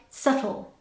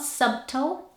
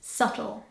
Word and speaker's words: subtle: would expect it to so it sounds like subtle subtle so it's not subtle it's subtle number 10 this is